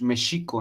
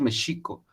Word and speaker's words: México: escribe x en general se escribe como equis pero se pronuncia sh es méxico en realidad es méxico texcoco denos acá y